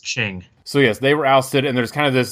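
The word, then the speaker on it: Qing: oust the oh shoot i didn't look up how to pronounce it i think it's pronounced ching so yes they were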